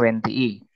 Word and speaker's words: wentii: I-nya 2, jadi dibacanya wentii.